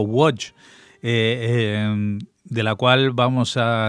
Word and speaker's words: Łódź: En la entrega anterior habíamos empezado a hablar de una ciudad importantísima llamada Lodz, o pronunciado en polaco Łódź, de la cual vamos